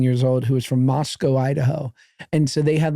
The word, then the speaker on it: Moscow: It's Moscow. Moscow not Mos-cow. Understood. But it's spelled like Moscow.